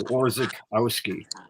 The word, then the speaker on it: Orzechowski: So Orzech is the root. So CH becomes a hard K. So Orzechowski. Orzechowski. Yep. No chow, just Orzech.